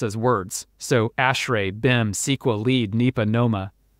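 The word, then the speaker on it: ASHRAE: on the left are acronyms which you actually pronounce as words so ashray Bim SQL lead NEPA Noma which are different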